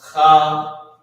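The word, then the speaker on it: חזה: It's pronounced chazah.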